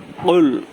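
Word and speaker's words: قل: আবার ভালো করে শুনুন কুল এই কফটা কুল গলার মাঝখান দিয়া কুল বলে যেভাবে উচ্চারণ এরকম হবে যেটা কলকলার অক্ষর এটা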